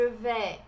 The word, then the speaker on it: vais: Je vais bien, merci. Et vous? Aqui o je vais, temos o AI em francês, tem o som de E. Je vais, o S não é pronunciado, como você está vendo.